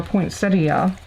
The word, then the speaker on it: poinsettia: the middle of the poinsettias. Now, do y'all say poinsettia or poinsettia? I know it can be pronounced both ways, but I always say poinsettia.